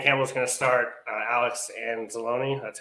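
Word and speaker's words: Anzalone: i mean dan campbell's gonna start uh alex and zalone that's how you say his name yeah i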